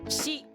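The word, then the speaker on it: し: This is not pronounced C. This is she.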